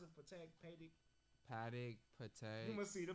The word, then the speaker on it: Patek: How you pronounce it? Patek, Patek.